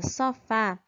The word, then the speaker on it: sofá: cortador cristal a gente vê aqui na palavra sofá que tem acento então já fica bem mais prático da gente saber qual é a sílaba mais forte quando ela vem acompanhada de assento aquela vai ser a sílaba mais forte da palavra cortador cortar dor cristal